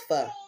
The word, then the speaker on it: pho: It's pronounced, it look like pho, it's pho.